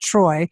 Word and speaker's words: Treu: It's T R EU, but pronounced Troy.